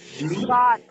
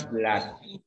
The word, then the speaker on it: blood: Bahasa Inggrisnya darah itu bacanya bukan blood, tapi bacanya blood. Dia double O tapi tidak baca U.